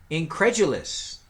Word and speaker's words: incredulous: Number 14, incredulous. Incredulous. It's always funny how there's a D and it sounds like a J, doesn't it? Incredulous. As opposed to incredulous, but it doesn't go that way.